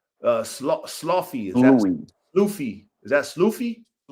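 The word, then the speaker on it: Sloughi: Isn't the Isn't the uh gh like a like tough? like he slies. Okay. Depend. Yeah. Can it can be that sound like in Lee. Yeah. GH makes several sounds.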